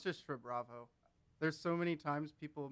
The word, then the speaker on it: SHRUBRAVO: How do you pronounce the star? Asterix. Okay, so SHRUBRAVO asterisk. Yeah, but it's just SHRUBRAVO.